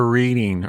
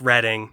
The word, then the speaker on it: Reading: Yeah, I learned, it was just dots and dashes for, it's pronounced reading, not reading.